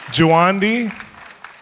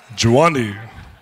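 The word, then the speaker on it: Juandi: How do you say, someone say it. Juwandi? Juwandi. Juwandi.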